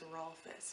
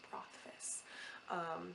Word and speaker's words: Rothfuss: I always think it's Rolfus, but it's Rothfuss.